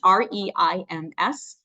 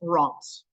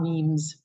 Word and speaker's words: Reims: It's pronounced R-E-I-M-S, but it's usually pronounced Reims. So Reims is the correct way to pronounce that, not memes.